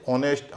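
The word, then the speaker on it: honest: जैसे ऑनेस्ट आवर इसमें क्या है कि शुरू में एच है। वो साइलेंट है।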